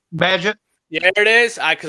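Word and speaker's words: Bagent: Badgett.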